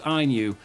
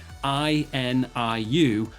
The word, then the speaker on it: INIU: from a company called INU. And up to this point, I've been actually saying the name wrong, but believe me when I say I N IU actually stands for IU.